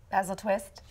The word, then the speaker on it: Basil Twist: call 30145 artts for tickets and information I mispronounced his name it's actually basil basil twist yes yes it as he said it rhymes